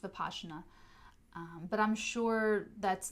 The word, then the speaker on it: Vipassana: using the veena technique VI PA s si ma Vipassana it's pronounced bipasha na but I'm sure that's